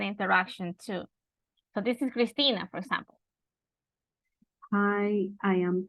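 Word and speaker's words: Cristina: you really like it Okay let's listen it's pronounced Christina and it's spell c r i s t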